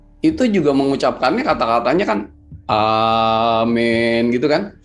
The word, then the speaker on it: Amin: nah itu nah itu kalau dibacanya benar cara bacanya tuh adalah waktu kita baca Amin itu biarkan ya di bawah di bawah pusar kita itu kata-kata a-nya tuh naik A jadi jangan a-nya tuh jangan di leher tapi di bawah gitu